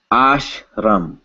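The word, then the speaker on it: आश्रम: We would separate this into ash, followed by ram, which I'm not drinking. Ashram.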